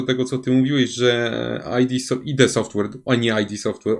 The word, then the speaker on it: id Software: To nie jest nazwa amerykańska, tylko to jest nazwa chyba niemiecka, nie jestem pewien dokładnie. I mówi się ID Software, także ktoś mnie już